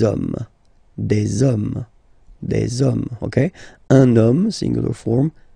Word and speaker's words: hommes: You don't pronounce it, so you get des hommes, okay.